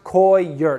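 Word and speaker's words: coir: roots yes Co ir it's pronounced koi your Co ye er and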